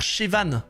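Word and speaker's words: Siobhan: Ça se prononce genre Chevan !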